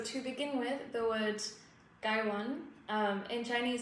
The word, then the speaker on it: gaiwan: So to begin with the word gwan um in Chinese it's pronounced gwan like those tones and the guy means litted and the one means bowl.